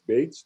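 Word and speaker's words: Betz: we showed that's uh bets or baits uh theorem either in german it's baits not baits serum and so our initial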